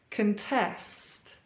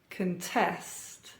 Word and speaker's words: contest: 90s good times now you may have noticed a pattern here stress or emphasis on the second syllable uh and we have a verb produce produce contest contest Converse Converse conduct conduct